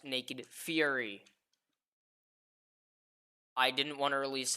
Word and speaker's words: Naked Fury: Anyway, which a lot of my friends keep trying to pronounce it as Naked Furry. Fun fact, Fury is spelled with one R, not two. There you go. So it is pronounced Naked Fury.